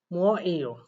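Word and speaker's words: 뭐예요: অনেকে এটা উচ্চারণ করে মু অ ই এই ও, এরকম উচ্চারণ করবেন। তবে এইটার উচ্চারণ আসলে এটা সঠিক, যেটা আমি লিখে দিছি এটা সঠিক, তবে এইটার চাইতে আরো বেশি সঠিক হচ্ছে মু এই অ, মু অ এই ও, মুয়াইও, এইটা হচ্ছে সবচাইতে বেশি সঠিক, অর্থাৎ এটা আপনারা লিসেনিং এ শুনতে পাবেন।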